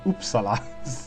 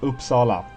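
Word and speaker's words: Uppsala: find it hilarious how most people speaking English pronounce that oopsa just cracks me up every time it's oops Sala oop it's a short p the short you God damn it anyway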